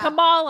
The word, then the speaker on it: Kamala: do you pronounce it first you say comma like a comma in a sentence then you say la la la la Cala together and it's one two three commala Kamala all right so let's